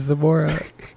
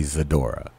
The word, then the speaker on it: Zamora: I feel like she knows that my name is Zamora, and I feel like she said it wrong a couple times.